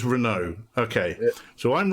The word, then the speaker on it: Renaud: to get this wrong I said Renard is that right it's just Renault okay so I'm wrong